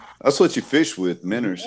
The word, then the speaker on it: Mentor: Mentor. Mentor. The Fresh Maker. Mentor. All of us. No, all of us say Menor. That city is Menor. Menor. That's what you fish with, Menors.